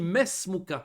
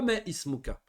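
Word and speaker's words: ما اسمك: On a dit que le mot ism, le hamza, il s'appelle hamzatul wasl, qu'on le prononce au début de la phrase et pas au milieu. On dit ismi Muhammad et on dit mesmuka. On dit pas me ismuka.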